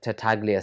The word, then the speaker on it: Tartaglia: Tartaglia, the Tartaglia family, you find that they're the kind of main people who are going to be going against the Corleone family.